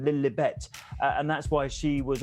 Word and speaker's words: Lilibet: Well, it's because it was how Princess Elizabeth pronounced her own name, Elizabeth. She went Lilibet, and that's why she was always called that.